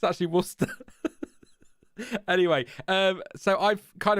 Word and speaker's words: Worcester: to ruin the theory Cameron um but we pronounce it Worcester sauce just just to throw another curveball at you it's actually Worcester anyway um so I've kind of roughed this